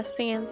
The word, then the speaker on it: Sans: Sans, I know a person who like swears up and down that it's like pronounced Sans and I'm just like, "No, it's meant to be like a play on comic sands. You don't call comic sands. Comic Sans. Comic Sans."